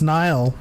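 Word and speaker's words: Nihil: round table they're like okay it's markian it's niall also leox is matthew mcconaughey so make sure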